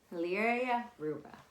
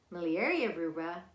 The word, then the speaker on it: miliaria rubra: act up even more malaria Ruba what is how you say well not to be mistaken with malaria miliaria rubra also known as prickly